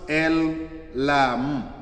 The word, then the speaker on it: El Olam: Then when you read Genesis 21:3, Psalms 91:1-2, Isaiah uh 40:28, then Romans 1:20, pronounced El Olam, El Olam, El Olam.